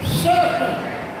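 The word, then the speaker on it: Seffner: It is spelled S-E-F-F-N-E-R. And it's pronounced Sefner.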